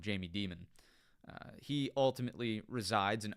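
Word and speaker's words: Jamie Dimon: Rosa, it is technically pronounced Jamie Diamond. Uh, but we up here joke around and call him Jamie Demon.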